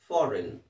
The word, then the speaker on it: foreign: Okay, FOREIGN ಇದೆ. ಸೊ ಕೊನೆಗೆ GN ಬಂದರೆ N ಅಂತ ಹೇಳಬೇಕು. G ಸೈಲೆಂಟ್ ಆಗಿರುತ್ತೆ. ಫಾರಿನ್.